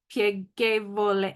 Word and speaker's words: piegevole: word, I was like, okay, that's a G, that's a hard G because there's an H there. Vole, piegevole. And finally, as I said it, I was like, piegevole, okay.